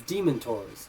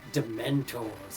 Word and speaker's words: dementors: um what is it i pronounced demon tours as as demon tours like demon not dementors like oh they're demented oh no they're they're